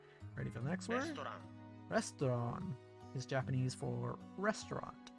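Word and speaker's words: レストラン: It's like restaurant, but without the T and the ch sound. Restaurant. Yeah, it's a toe instead of a ch.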